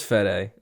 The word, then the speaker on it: Fede: It is Fede. Yeah, let's go with Fede. I figured. That sounds right. Fede Alvarez.